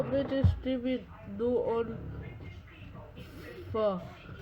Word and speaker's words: pho: Vietnamese pho. It only takes 10 minutes to make. It's so easy. The pronunciation is Pho, not Pho.